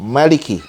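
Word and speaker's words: مَلِكِ: di apa namanya qiroat ya pertama dengan memanjang Maliki dan kedua dengan memendekkannya Maliki nah menurut yang pertama kalau panjang Manya artinya yang memiliki yang empunya sedangkan menurut bacaan yang kedua kalau bacanya pendek Maliki itu maka itu artinya adalah raja dan pada konteks ini eee qiraat ini kedua bacaan ini betul benar tapi perlu juga apa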